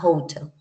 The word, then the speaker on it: hotel: sería muda para nosotros ella tiene un sonido que sería como una pequeña J es como un pequeño sonito de J a hotel in English a University